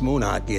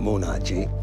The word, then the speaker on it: Moonachie: Everybody pronounces the name wrong. It's Moonachie, it's not Moonachie.